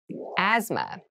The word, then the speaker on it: asthma: deep cavity deep cavity asthma asthma Asma so this word has very interesting spelling there's a th in the middle but we don't say Asma we say asthma